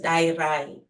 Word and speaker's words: Dayirai: Okay, so the actual pronunciation of my name is Dayirai. So the D sound is a quiet, a soft D.